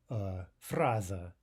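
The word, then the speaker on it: фраза: Okay, that final unstressed ah is pronounced more like fraza.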